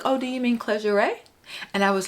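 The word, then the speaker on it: Clergerie: "Oh, do you mean Clergeray?" And I was like, yes. And so, not realizing it was a French brand, and Clergeray. So now I know how to say it. Clergeray. Clergeray. It's not clergy.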